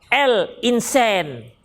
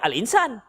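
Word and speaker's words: الإنسان: the Hai surat al-insan kita pakai mereka pakai l ya kan l insen ke begitu dia bacanya kita baca Elin sen saja al-insaan Hai itik hafidin Jadi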